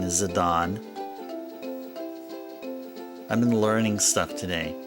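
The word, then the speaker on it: Zidane: I was enlightened by the fact that our protagonist name here in Final Fantasy 9 is Zadon.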